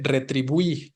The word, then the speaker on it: retribuí: Y finalmente, retribuí, ¿no? Retribuí. Esta es aguda, el diptongo se encuentra hasta el final y ahí sí tengo que tildarlo, ¿no?